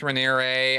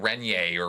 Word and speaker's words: Raniere: I think I was saying Renier or Renier or something. Anyway, Raniere, Raniere.